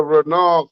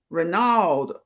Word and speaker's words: Renault: family the renault yes renault okay okay i look pop i was saying papa renault lid i was trying to pronounce every every single letter i was trying to say every letter renault family that's is